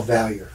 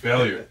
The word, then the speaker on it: Valliere: We don't pronounce the French word. We just go Valliere. Valliere.